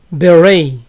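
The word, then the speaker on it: beret: viser boí es beray no se pronuncia la última t beray al sombrero de charro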